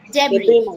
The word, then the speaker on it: debris: Debris. S is silent here. Huh? S is silent. It is debris.